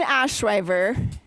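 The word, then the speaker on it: Ashryver: So Adian Ashriver. Ash River. Oh, like river.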